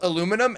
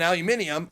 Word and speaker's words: aluminium: catacomb no that's why al aluminum and aluminium are correct but only in the place that they're correct in yeah in a tame